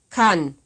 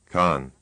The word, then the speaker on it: kann: kann, This is another word pronounced right and then wrong. Con. kann, Con. Sounds like the only difference is a stronger K in that one.